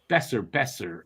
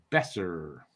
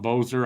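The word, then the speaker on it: Boeser: Besser. It's pronounced Besser. Brock Besser. One thing you'll learn about me, everyone, I suck at pronunciation. No, me too. I used to call him Boser also.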